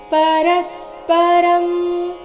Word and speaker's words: ಪರಸ್ಪರಂ: ಮೇಲೆ ಆಘಾತ ಗಮನಿಸಬೇಕು ಪರಸ್ಪರಂ ಇಲ್ಲಿ ಪರಸ್ಪರ ರ ಆದ ನಂತರ ಅನುಸ್ವಾರದ ಉಚ್ಚಾರಣೆ ಕಂಸದಲ್ಲಿ ಅರ್ಧಮ ರೀತಿ ಕೊಟ್ಟಿದ್ದಾರೆ ಯಾಕಂದ್ರೆ ಮುಂದಿನ ಶಬ್ದ ಭಾವ ಭಂದ ಶುರುವಾಗ್ತಾ ಇದೆ ಇದು ನೋಡಿ ಪ ವರ್ಗಕ್ಕೆ ಸೇರಿದ ವ್ಯಂಜನವಾಗಿದೆ ಪ ಭ ಈ ವರ್ಗದ ಅನುನಾಸಿಕ ಮ ಆದ ಕಾರಣ ಅಲ್ಲಿ ಕಂಸದಲ್ಲಿ ಅರ್ಧಮ ಬಂದಿದೆ ಪರಸ್ಪರಂ ಭಾವಯಂತಶ್ ಭಾವಯಂತಶ್ ಶ್ರೇಯಪರ